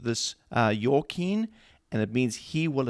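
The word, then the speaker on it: Jachin: were two major pillars that one was called jakeen uh it's actually pronounced your kin and it means he will establish so there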